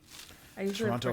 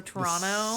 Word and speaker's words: Toronto: we can also oh so Toronto second T is silent by all right I